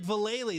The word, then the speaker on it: Vallely: Mike Vallely, that's it, not Valley.